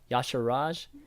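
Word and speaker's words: Y'Shaarj: sure Raj that's right that's how are you pronounce it right yah sure Raj yeah somebody given me the pronunciation yeah sure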